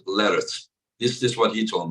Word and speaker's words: Larratt: Yeah, I asked Devon how to pronounce his last name. He said, and the same as like carrots, you know, vegetable carrot. He said Larratt.